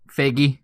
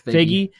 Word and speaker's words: Feige: So if I could talk to Kevin Feige, is that how you pronounce his name? Feige. I think it's Feige.